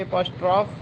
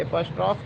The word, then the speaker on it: apostrophe: Direct एपॉस्ट्रॉफी है, एपॉस्ट्रॉफ है. एपॉस्ट्रॉफ को जो है आपको करना है, the pronunciation is नॉट एपॉस्ट्रॉफी, that is एपॉस्ट्रॉफ.